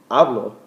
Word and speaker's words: hablo: When you say habló, you're saying he or she spoke. If you're saying hablo, I speak. So that accent on the O is very important to use in the preterite.